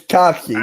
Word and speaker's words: Kofsky: It's Kofsky.